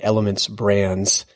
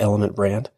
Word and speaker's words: Elements Brands: And Charlotte is where, of course, Bill D'Alessandro is headquartered, and Elements Brands. Very important to pronounce the S's on both of those. If you want to really drive Bill crazy, call it Element Brand.